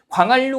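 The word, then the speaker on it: 광한루: 날로라고 했을 때 니은, 리을 만났는데 날로 이렇게 발음이 되고요, 그죠? 그 다음에 광활루 같은 경우도요, 그죠?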